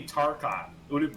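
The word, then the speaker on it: Tarchon: a mouthwash wait wait by that spelling it would be tarkon it would be pronounced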